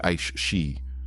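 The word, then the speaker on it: aos sí: the world of the aio sea, pronounced roughly ash shei, draws closest to our own.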